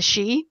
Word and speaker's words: Sidhe: Yeah, well, fairies are sort of derived from the Celtic gods, the Sidhe, which is spelled Sidhe.